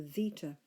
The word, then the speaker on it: zeta: to our Z, and that's called a zeta, generally pronounced zd, as though it's spelt SD in English.